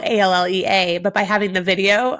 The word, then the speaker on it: Allea: So it's Allea, but it's spelled Allea.